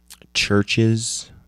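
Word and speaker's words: CHVRCHES: um featuring Ella Golding uh LCD sound systems churches uh with a V spelled I mean pronounced ches you got two sets of the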